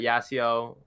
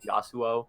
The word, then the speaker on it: Yasuo: really knew was that yasiyo or how do you pronounce the name yasuo yeah yasio okay anyways but yeah